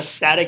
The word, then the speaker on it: SATA: You can remember that because SATA rhymes with data. SATA sends data.